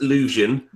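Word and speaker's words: Leuvsion: Uh, so it's pronounced illusion which is L E U V S I O N.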